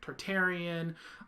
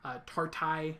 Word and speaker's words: Tartaria: So the theory is that there is a land called Tartaria, also known as Tartarian. Tartai is another way it's pronounced sometimes, but more I call it Tartaria because it sounds cooler.